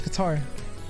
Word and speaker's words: Qatar: That's its pronunciation. No, it's Qatar. No, it's actually Catter. I refuse No. to say it like that. If that's actually correct, which I don't think it is. It's not. It is, and It's Qatar not is an correct. Anglicization. It's no, he's bullshitting.